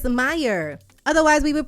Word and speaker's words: Mayer: to goodness we thought it was is Oscar Maya that's what everybody says Maya that's why everybody says Oscar my I wish I was going on it's Meyer otherwise we would pronouncing it like mayor like